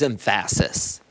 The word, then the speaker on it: emphasis: The word is emphasis. What is wrong with you? You put the emphasis on the wrong syllable.